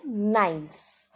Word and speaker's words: gneiss: ये कैसे प्रोनाउंस होता है, इसकी स्पेलिंग है GNEISS, पर इसे हम प्रोनाउंस कैसे करते हैं नाइस.